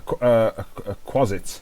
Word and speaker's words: quasit: Spell it out. Ketsu? Can you type it? Yeah. Quassit. IT. That's it. A quasit.